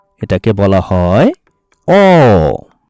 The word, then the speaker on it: অ: ছোট্ট সোনামণিরা, আজ আমরা বাংলা স্বরবর্ণের সঠিক উচ্চারণ শিখব। চলো শুরু করা যাক। এটাকে আমরা কি বলি? এটা হচ্ছে অ। এটাকে বলা হয় অ।